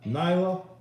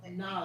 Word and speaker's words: Nala: Lion King, the other Nala. Simba. Nyla? Nala.